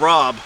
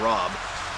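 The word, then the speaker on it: Raab: And I found the little village of Rob on that map. It's spelled R-A-A-B, Parish of Rob.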